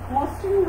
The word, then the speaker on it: মসৃণ: তাহলে আদ্য অয়ের পরের ধ্বনিতে যদি রিকার থাকে, তাহলে অয়ের উচ্চারণ অয়ের মতো না হয়ে কিসের মতো হয়ে যাবে, ওয়ের মতো হয়ে যাবে। যেমন আমরা কি লিখলাম, মসৃণ, মসৃণের উচ্চারণ করতে হবে মসৃণ।